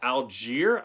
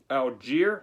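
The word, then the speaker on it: Allgeier: to be uh algier i'm pronunciating that one because i mispronounced him in the boy state versus preview video and byu fans got mad so algiere in this one i hope should be saying it right this time uh 642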